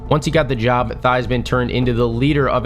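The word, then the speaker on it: Theismann: Did you know that Joe Thyman actually changed how his last name was pronounced at Notre Dame? He made it rhyme with Heisman to campaign for the trophy.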